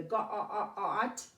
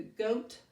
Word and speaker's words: goat: And then if you forget this rule when two vowels go walking, the first one does all the talking. Now, it doesn't happen all the time, but if you forget that, and you want to put a short O in there, you go ga-a-a-at. The goat had many jokes. And if you read the ga-a-at had many jokes, well, you know that sounds silly, right?